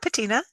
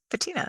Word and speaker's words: patina: Yeah, patina, patina. That's the way Americans pronounce it.